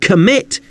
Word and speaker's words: commit: Note how the stress in the word commit is on the second syllable.